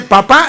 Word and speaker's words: papá: Ahora, cuando él dice papá está repitiendo la fórmula que la mamá le enseñó que la p a y la p a dice papá poniéndole el acento en la A.